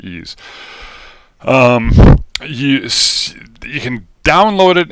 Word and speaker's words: EES: engineering equation solver ease ees is pronounced ease um you can download